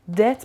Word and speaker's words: debt: debt بیش تلفظ نمیشه.